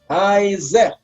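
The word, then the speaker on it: היצא: kol haremes al haaretz haizeh itach. Di sini ada perbedaan antara tulisan dan pengucapan. Kafirin, ya. Ditulisnya itu pakai vav, tapi disebutnya pakai yud. Harusnya hose, tapi dibacanya haize.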